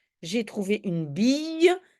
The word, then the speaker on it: bille: accent j'ai trouvé une bille très souvent le cette prononciation y c'est deux l en tout cas ici c'est le cas j'ai trouvé une bille